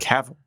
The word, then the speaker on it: Cavill: Well, Cavill sounds like navel, so it sounds Okay. weird to me. Well, yeah. Okay. That's a weird. Henry Cavill Thank had you.